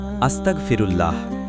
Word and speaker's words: আস্তাগফিরুল্লাহ: আস্তাগফিরুল্লাহ। উচ্চারণ আস্তাগফিরুল্লাহ।